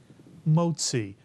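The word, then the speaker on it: מוציא: The tzadi makes the TZ sound, as in the word Mr. and Mrs. Katz. Tzi is the second syllable, mitsuyan. Put the word together, you get motzi, mitsuyan, motzi.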